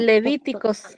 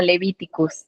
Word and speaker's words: Levítico: Ah, es que creo que creo que a veces está la confusión con Levítico porque en inglés es como Levíticus, ¿no? Así se pronuncia.